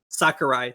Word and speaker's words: Sakurai: with Sakurai isn't it Sakurai is that how you pronounce it Sakurai thank you socer guy I don't